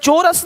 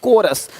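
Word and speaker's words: chorus: क्या पढ़ेंगे कैरेक्टर देखिए यहां पे क्या लि चोरस नहीं कोरस देख रहे हो शिफॉन यहां पे शिफॉन है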